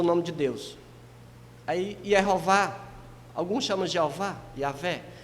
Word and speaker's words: Yehová: é o Deus, a Yehová, né? Eu faço essa pronúncia porque eu entendo que assim é que mais se aproxima, né? Porque Javé, não existe J lá, isso já foi uma coisa do período medieval aí.